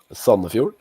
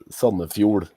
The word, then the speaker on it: Sandefjord: It's in English, it's Sandefjord. In Norwegian, it's Sandefjord. So it's the same in English and Norwegian? Yeah, but the pronouncement is a bit different. You got a little emphasis on the different syllable.